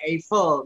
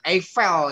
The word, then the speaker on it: Eiffel: Indonesia atau luar negeri kebanyakan bacanya Eiffel nah tapi kalau belajar Chandra cicak baca yang benar Eiffel katanya gitu ya kita